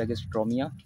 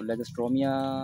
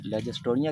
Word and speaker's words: Lagerstroemia: इसका जो लेगिस्ट्रोमिया भी मशहूर नाम है, लेकिन जो दुरुस्त और साइंटिफिक नाम है तलफ़ुज़ के साथ वो है लेगिस्ट्रीमिया, LAGERS leggers, LAGERS leggers, TROEMIA। जो इस स्पेलिंग के तलफ़ुज़ के अंदर जो वर्ड है ओ को नहीं पढ़ते, ओ साइलेंट है, इसलिए साइलेंट लफ्ज़ को पढ़ना नहीं होता, इसलिए इसको आप लोग लेगिस्ट्रीमिया पढ़ें।